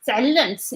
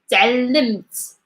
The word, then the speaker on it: تعلمت: Lim, lim, تعلمت, تعلمت, mit, تعلمت. For the pronunciation of the M, is always you have to press on your lips to get the right sound.